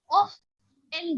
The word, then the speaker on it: often: ये देखिए often में जो pronunciation होता है guys, एक बार थोड़ा नोटिस करेंगे कि T साइलेंट होता है। ओके, often में T साइलेंट होता है। often बोलते हैं, often सिंपल, often नहीं बोलेंगे।